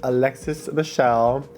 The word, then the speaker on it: Alexis Michelle: so next up is Alexis Michelle her name rhymes with hell this one I actually